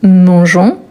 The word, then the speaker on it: mangeons: Surtout attention car le verbe e r pour ne pas avoir les son des mangons, on dit mangeons et là il faut garder le petit e avant on s mais on ne les prononce pas et nous mangeons ensemble.